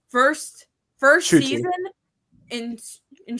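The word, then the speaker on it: Ncuti: Just Shooty, no N. No, there is an N because he did come out in an interview and said that his mom yelled at him for pronouncing his own name wrong. The N is pronounced.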